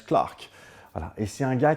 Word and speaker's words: Clerk: Maxwell c'est son nom et ça s'écrit clerk avec un e mais très souvent ça se prononce Clark voilà et c'est un